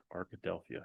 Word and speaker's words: Arkadelphia: found a decent um Hampton Inn in Arkadelphia Arkadelphia yeah that's how you say it and I